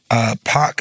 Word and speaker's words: Paak: my last name right in a park is what is it supposed to be pronounced I was supposed to be pronounced originally but I started saying pack because I wanted it people to maybe think it was like a band or more than one person and I found out